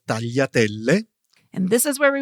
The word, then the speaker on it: tagliatelle: Okay, so then there's the GLI, which I think is one of the hardest sounds for English speakers. Yes, Tanya, it's pronounced yi. You hear it in words such as famiglia or tagliatelle.